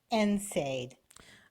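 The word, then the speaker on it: NSAID: know they're ever wondering enade okay so enade is a class of medications that decrease swelling and Molin or ibuprofen is a part of them right and it's spelled NS a i d which is nonsteroidal anti-inflammatory drug right so they came out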